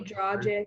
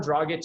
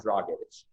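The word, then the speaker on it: Dragić: say his name it's they say dragic when it's grown on druggage is not that hard to say jesse i'm sorry i say like people say like it's bragging the whole thing is four syllables you can't figure that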